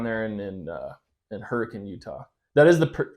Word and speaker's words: Hurricane: School okay down there and then uh in Hurricane Utah that is the correct pronunciation yeah it is the correct pronunciation yes